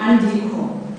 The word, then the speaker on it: andiko: Because of that A, you're more likely to do that N. But not as a separate sound, andiko.